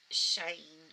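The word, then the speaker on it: Shein: So then I had I think these are all from the website Shane, or I think that's how you pronounce it, S-H-I-E-N, I believe.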